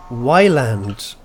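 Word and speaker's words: Ylands: Wyland. It's islands. Get it? But it has a Y. It's pronounced island.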